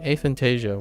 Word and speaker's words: aphantasia: let's see how I or maybe the N is silent a fasia no maybe not let's see go about pronouncing it a Fantasia a Fantasia all right a Fantasia works yeah I didn't realize